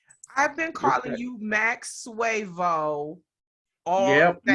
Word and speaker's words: Max Suavo: you Max Suavo all Yep, day. Suavo. Bravo. Oh, Max Suavo. See, I knew I was Yeah, saying it wrong.